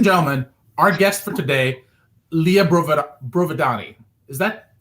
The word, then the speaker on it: Lea Brovedani: is that pronounced properly they're pretty close i go librova danny so and you know what if you say brovidani and you use your hand it's easier to pronounce so it's very it's very italian i love that very